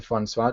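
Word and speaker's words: François: So I'm going to pass things straight over to Francois. First of all, did I get the pronunciation right, Francois? Yeah, it's Francois. You're right.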